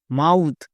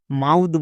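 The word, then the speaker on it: mouth: এম ও ইউ টি এইচ মাউথ। একে আমরা ভুল করেও মাউদ বলতে পারবো না।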